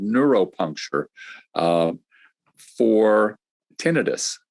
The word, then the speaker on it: tinnitus: called neuropuncture uh for tinnitus or sometimes pronounced tinnitus that persistent ringing in